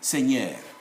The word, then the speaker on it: seigneur: It's not seigneur, no, it's not say, it's simply seigneur, like that.